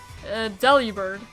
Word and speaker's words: Delibird: According to the Pokemon Handbook I have, it's pronounced Delibird.